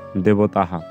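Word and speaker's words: দেবতাঃ: সেই আকারটি পাবো তো আমরা পেয়ে যাচ্ছি দেবতা এর শুদ্ধ উচ্চারণটি দেবতাহা তো আরেকবার আমি উক্ত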